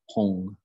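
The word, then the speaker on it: hūṃ: So the mantra is hung, it's spelled H-U-M with a dot underneath the M and a straight line across the U. And that's pronounced as hung.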